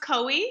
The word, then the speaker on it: Kui: So it's pronounced it's pronounced Kui, so like Chloe without the L, and then, kind of like Hawaii.